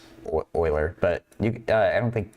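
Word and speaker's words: Euler: oh you know I should say uh it's pronounced Oiler e l e r it's a it's a name of the person or far as I know it's pronounced Oiler but you I don't think people say uler but as far as I know it's pronounced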